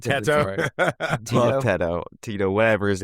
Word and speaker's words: Teto: It's pronounced the same. That's why it's Teto.